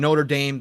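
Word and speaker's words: Notre-Dame: highly accurate so when Notre Dame fire happened right if you guys remember the Notre Dame notredam I should say I'll pronounce it correctly not the football team or the school uh but again notredam uh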